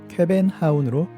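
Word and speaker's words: København: 코펜하겐은 상인의 항구라는 뜻으로 덴마크인들은 쾌벤하운으로 발음합니다.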